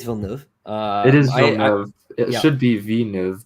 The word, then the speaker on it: Villeneuve: It is Villeneuve.